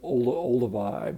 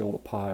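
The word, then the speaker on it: Oldupai: a lot of people call it sort of Olduvai but it's actually all the pie which was a mispronunciation of the way it's written you know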